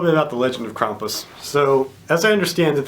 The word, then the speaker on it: Krampus: talk to you about Krampus and yes it's pronounced Krampus not Krampus you American uneducated dummies I saw the movie